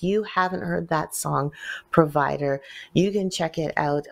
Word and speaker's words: PRVDR: Pro provider and uh spelled without the vowels so so it's PR rvdr but it's called provider without the vowels and you got